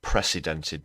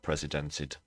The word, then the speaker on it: precedented: at strange unprecedented unprecedented that's precedented not presidented careful on the uh pronunciation there everyone uh if you